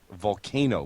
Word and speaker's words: Vulkano: Volcano, but it's spelled Vulkano.